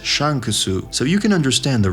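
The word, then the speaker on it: シャンクス: to his name Shanks in Japanese his name is pronounced as Shan kusu so you can understand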